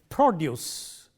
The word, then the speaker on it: produce: Take for example, a word like produce, stress on the first syllable used as a noun.